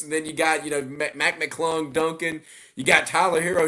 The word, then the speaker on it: McClung: Mac McClung, how you say his name correctly?